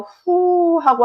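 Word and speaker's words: フ: 난리잖아요 많은 피해도 있어서 후하고 한 숨이 절로 나오는데요 바탁 하나 후는 한글 자음 기역 모양의 발음이 후 그래서 기후의 후라고 기억하시면 되겠습니다 한 숨 쉬는 소리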